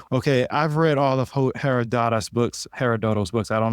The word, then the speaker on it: Herodotus: I've read all of Herodotus books herodot books I don't know how to say it I I Herodotus in general is how it's pronounced but it doesn't it's